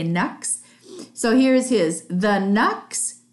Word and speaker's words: Canucks: Canucks to the Knux is a slang or half a term for how to say the vancouver canucks they say knucks so here's his the